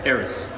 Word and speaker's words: Eris: It is pronounced Eris, right? Eris, yeah. Eris.